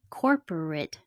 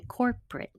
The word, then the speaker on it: corporate: of desperate it's desperate corporate changes to corporate doctorate changes to doctrine